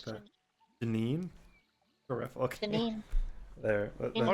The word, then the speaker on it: Janine: Gianni. I don't spell it like that. Janine.